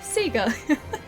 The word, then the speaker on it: Sega: Freedom Unite like back back PS2 like PSP days in Australia we say it correctly. Yes. Sega. It's Sega.